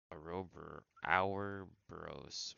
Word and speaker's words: Ouroboros: I don't even know how to really pronounce it either. O-U-R, ow, hour, O-B-O-R-O-S. Ouroboros.